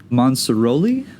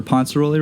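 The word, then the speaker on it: Ponciroli: Yeah, directed by Pozzi Monsaroli. I hope I got that right, or Ponceroli rather. That's right.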